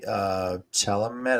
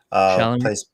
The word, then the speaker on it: Chalamet: The Timothy Chalamet, is that how you pronounce his last name? Chalamet.